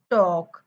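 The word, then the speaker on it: talk: L silent असतो वॉक टॉक डब्ल ए एल के एल K directly L silent करायचं वॉक म्हणायचं टॉक म्हणायचं okay next बघूया पी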